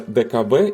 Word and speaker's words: DKW: at the time and dkw or rather deave in German pronunciation was a part of